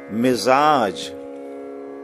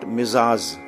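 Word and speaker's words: مزاج: Now we say Mizaj. We say Mizaj. This sound should be very carefully pronounced. Mizaj. Not Mizaz. Or Mijaz. Not Mizaz. Or Mijaz. You say, we say Mizaj, Mizaj.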